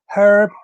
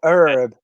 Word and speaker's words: herb: it say there with the brits use the silent h brenda's referring to the fact that uh um the word herb or herb yeah yeah i use